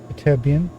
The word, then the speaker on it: Ytterbium: So we've got Ytterbium. That's how you pronounce it.